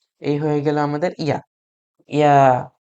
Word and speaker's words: ي: ইয়া উচ্চারণ করার জন্য আপনাকে খুব বেশি কষ্ট করতে হবে না, জাস্ট ভালো সিম্পলি উচ্চারণ করবেন মুখ দিয়ে, ইয়া, ইয়া, ইয়া।